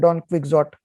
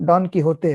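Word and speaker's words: Don Quijote: गया था, ठीक है, जिसको भारत में लोग कहते हैं डॉन क्विक्सोट। हाँ, राइट। तो उसका प्रोनाउंसिएशन डॉन किहोते है।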